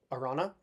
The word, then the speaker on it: Arana: I think that's how you pronounce her name, Arana.